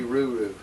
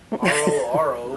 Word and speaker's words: RoRo: Is she RoRo or is she RuRu? RoRo. RoRo, oh. Oh, we've been saying it wrong.